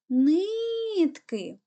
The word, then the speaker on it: нитки: складів наголошений гукаємо слово нитки куди падає наголос на перший склад будь ласка робимо звукову